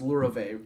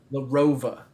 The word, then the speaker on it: Larova: Your last name is pronounced Lurove, correct? Larova. Larova.